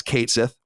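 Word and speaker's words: Cait Sith: that that that square enx has confirmed the pronunciation of Kate Sith as Kate Sith yeah well well I I don't know how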